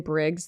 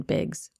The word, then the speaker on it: Biggs: about I just Iz have I been calling him Brandon Briggs this whole video his name's Brandon bigs oops yikes not me